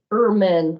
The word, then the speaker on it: Erman: And it's from Erdman, how do I spell that? Erman, I'm sorry, I pronounced it wrong, ERMAN.